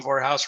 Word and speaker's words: Vorhaus: up i talk about my name voorhaus rhymes with the whorehouse i'm sick of it